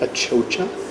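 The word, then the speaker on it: achocha: it's a Bolivian cucumber also known as it pronounced a chocha which is yeah really it's a cucumber but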